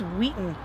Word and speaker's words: Wheaton: give you three guesses it rhymes with eaten or meat that's right you guessed it it's wheaton we're here today at